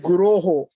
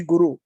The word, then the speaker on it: Guroho: prayers, Vande Aham Shri Guroho. So the word is plural. It's not Vandeham Shri Guru. Sometimes we mispronounce. So Vandeham Shri Guroho. Guroho is plural.